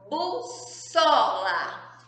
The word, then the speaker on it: bússola: o irmão gêmeo dele então a palavra bússola bússola se eu escrever com apenas não é se vai ficar uso lá não é burra é bússola então eu preciso a